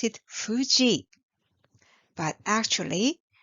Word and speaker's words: Fuji: it's romance spelling is f u j i you might pronounce it Fuji but actually there is no F sound in Japanese language even though alphabet f is used to show this word so Japanese people call